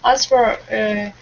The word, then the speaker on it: answer: We do not pronounce all of the letters. Sounds like answer. Answer. Answer. Answer. The W is silent.